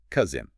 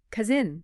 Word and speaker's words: cousin: It is a short, blunt sound, cousin. Cousin. And the S actually behaves more like a Z in the middle. It buzzes. Cousin.